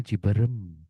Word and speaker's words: Cibereum: Cibereum yang bacanya ciberem atau mungkin peuyeum yang bacanya peyem.